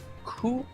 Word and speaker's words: coup: Coup is pronounced coup like c o u p coup c coup.